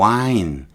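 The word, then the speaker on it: whine: 아이들이 wine, 뭐 H는 거의 발음 안 하고 wine, 낑낑대는 거예요.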